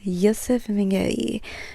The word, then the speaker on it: Josef Mengele: Ysef Mingali spelled Joseph Meneli, but it's a German name, so it's pronounced Ysef Mingali.